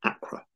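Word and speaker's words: Accra: the capital of Ghana is Acra it begins with a and it has two syllables now before I talk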